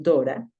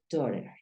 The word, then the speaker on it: daughter: Hay algunos lugares donde lo pronuncian Dora. O puedes decir daughter, daughter o Dora, de acuerdo a donde estés. En Australia es usual que digan Dora, my Dora.